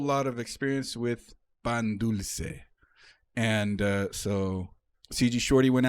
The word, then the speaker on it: dulce: I don't like the soft C's in Spanish. Pan dulce. No, pan dulce. There's a hard C. Dulce. Dulce. It sounds better like that.